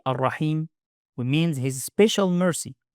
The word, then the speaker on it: الرحيم: Ar-Raheem make sure to pronounce the ha with a clear sound. Ar-Raheem don't mix it with a ha. Clear throat sound in ha. Ar-Raheem.